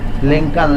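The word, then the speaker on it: Lincoln: लिंकन लिंकन लिंकन, एल को पढ़ा नहीं जाता, सिर्फ लिखा जाता है। लिंकन लिंकन, अब्राहम लिंकन, हाँ लिंकन, एल को सिर्फ लिखते हैं, साइलेंट होता है।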